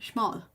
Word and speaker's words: Szmal: How is that name pronounced in English again? Szmal.